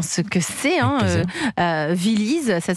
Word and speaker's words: Villyz: Viliz, ça s'écrit V-I-2-L-Y-Z.